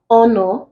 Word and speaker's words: honor: answer here becomes hunger in honor the H is also silent it's not pronounced so the H in